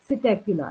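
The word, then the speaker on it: Psittacula: Pigeon is the Columba, parrot is द सिटेक्युला, यहाँ पे P silent होता है।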